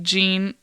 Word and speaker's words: Jeanne: So if we were speaking in English, she went from being like Jeannie to Jean.